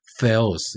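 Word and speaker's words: θεός: 영어의 그 th 사운드 같이 나옵니다. 그래서 데오스라고 하는 발음이 좋지 않고 그냥 theos 이 정도 하면 좀 괜찮은 것 같아요.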